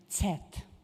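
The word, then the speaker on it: Cet: Cit is pronounced in Hungarian Tet and Tet means whale the sea mammal because it looks like a whale.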